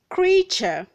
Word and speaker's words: creature: Word number 69, we have creature, creature, creature, not creature. This word has 2 syllables, not 3 syllables.